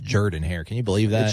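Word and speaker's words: Jordan-Hare: By the way, it's pronounced Jordan Hare.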